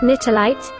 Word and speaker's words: Nitelite: it to elyse already knitterlight that's the proper pronunciation according to stella maria we'll have to meet